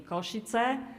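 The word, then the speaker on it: Košice: at pj shafari university in kosciutz slovakia this is the proper pronunciation and i'm sure that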